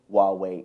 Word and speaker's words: Huawei: American audience to get a feel for who Huawei is okay well Jonas thank you for pronouncing it correct you're welcome uh so Huawei